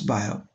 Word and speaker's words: Biot: The field of heat transfer started getting enriched from the path-breaking contributions made by Baptiste Biot, or in English we often pronounce Biot.